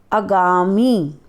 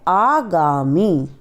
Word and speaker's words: आगामी: से उच्चारण को देखेंगे कि अगामी शुद्ध शब्द होता है आगामी अधीन शब्द शुद्ध होता